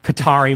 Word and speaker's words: Qatar: Qatar? Qatar. Well, it's like it's an Arab word. It has no vowels. It's like QTR. So it's like Qatar is how you would pronounce it, like Arabic.